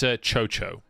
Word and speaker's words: Chocho: The TT support is pronounced... It's Chocho. Like C-H-O.